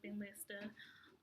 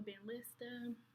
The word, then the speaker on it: Benlysta: That would actually get me my first 6 bags of Benlysta.